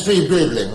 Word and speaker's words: Streebling: Yes, my name is Streebling. The T is silent, as in fox.